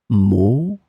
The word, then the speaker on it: maux: In this lesson, we will see together two words that are written differently but pronounced the same way. Maux, maux.